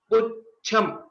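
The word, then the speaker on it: पुच्छम्: While we are pronouncing, we give a small pause or a bit extension after Pu. Pucham.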